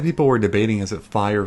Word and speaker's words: Fi: were debating as a fire fee and people were so sad that they were right however the japanese pronunciation where the translation comes from is actually resembles more closer to phi than fee it's fi and then